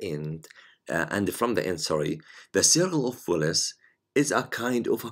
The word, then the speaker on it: Willis: Before that, some people pronounce it Willis, Wells, circle of Wells, but I think native people, I think they pronounce it Willis.